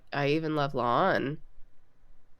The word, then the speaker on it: La'an: I try. But if I'm talking fast, it just comes out like lawn. You get that sometimes during the show too. Some people will specifically pronounce it La'an, and some people will just be like lawn.